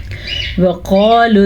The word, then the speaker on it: وَقَالُوا: اور عالم جاننے والا۔ وَقَالُوا اتَّخَذَ اللَّهُ، واو کو لمبا نہیں کریں گے کیونکہ واو پہ زبر ہے، قاف کو پر پڑھیں گے۔ وَقَالُوا اتَّخَذَ اللَّهُ، خا